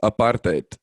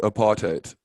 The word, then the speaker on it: apartheid: tend to go with apartheid so it's a part and then yeah the rest of the world because that's that it's an afrikaans word that's why it's um